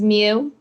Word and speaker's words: My: sorry it's okay uh my name is mew spelled m y like my oh yes we know